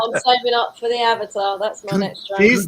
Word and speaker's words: Avata: Oh, is that how you say it? I keep calling it Avatar. Avata. I thought it was Avatar as well. Yeah. Well, you don't know what you're talking about then, Steve. He hasn't got an R.